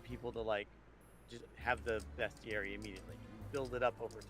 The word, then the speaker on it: bestiary: tying that into a bestiary. It's called bestiary, right? Not bestiary. It's spelled B-E-S-T, bestiary.